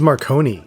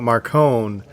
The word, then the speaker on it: Marcone: right but there was a moment when he pronounces his name differently too i think he says marcon he says marconi does he it was it threw me off because i'm like i know he's talking about marcone because there's no other character that's got a